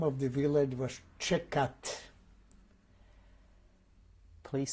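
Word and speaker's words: Tczekat: The name of the village was Čekat. Please spell. I'll try to spell it the best possible way. It would be T-C-Z-E-K-A-T, Čekat.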